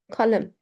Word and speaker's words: kalem: Kalem, kalem no, kalem, hard, kalem, pencil.